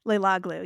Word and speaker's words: Leiloglou: Leiloglou, yes.